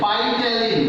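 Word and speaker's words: ptyalin: It's phytalin. See the pronunciation, phytalin. The T is silent.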